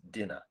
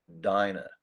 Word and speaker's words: diner: long vowel sign because many many people misspell that word as dinner and this word is not it because my magic eval can jump over this word is actually dinah i can go to